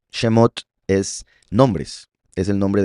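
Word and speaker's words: שמות: Entonces, por otro lado, el plural femenino se pronuncia ot al final, como por ejemplo la palabra shhemot. Shemot es nombres, es el nombre del libro de Éxodo que se llama nombres shhemot.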